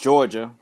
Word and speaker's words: Jawga: In my world, it's JAWGA. Pronounced Georgia, or if you read it out, Georgia.